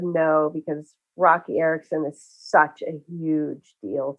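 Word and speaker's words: Roky Erickson: It's a tribute to, is it Rocky Erickson? Is that how you pronounce it?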